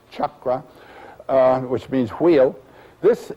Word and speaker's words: chakra: a the C in as it's transliterated from Sanskrit always is pronounced as that CH chakra uh which means wheel